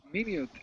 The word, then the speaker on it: minute: word whoa what is this word tricky one minut H for me it's a a small small